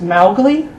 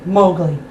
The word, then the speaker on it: Mowgli: Oh, speaking of Mowgli, apparently Kipling intended the name to be pronounced as Mowgli, the O-W rhyming with cow, but I have to say I prefer the adopted pronunciation, Mowgli.